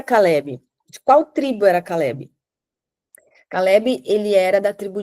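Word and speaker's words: כלב: Eh, ele tem três letrinhas aqui que fica na pronúncia fica cale, cale, né? Como se fosse um vezinho no final aqui.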